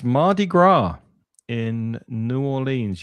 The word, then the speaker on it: Mardi Gras: It's Mardi Gras in New Orleans. You don't pronounce the S on that. It's Mardi Gras.